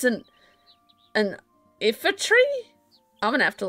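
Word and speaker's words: Iifa: How do you pronounce that? Ifa. Ifa tree. Yep. That's the two things I can't do. Pronounce things properly and I fall and get lost all the time.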